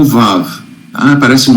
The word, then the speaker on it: Vav: Essa letra em cima é o Vav, tá? Parece um 9. Vav, em árabe, se escreve V-A-V, tá?